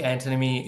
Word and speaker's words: antinomy: Did I pronounce it correctly? I think antinomy is right. I've heard it said antinomy, but let's stick with antinomy.